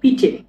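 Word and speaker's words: piće: পানীয়, পানীয়কে বলা হচ্ছে পিচে, দেখেন রাসায়নিক কি লিখছে, পিচে, মানে পিচে মানে পানীয়, এটা হলো পি, এটা আই, এটা সি এইচ চে, এটা হবে ই চে, পিচে, সি এইচ চে, পিচে, পিচে মানে হচ্ছে পানীয়।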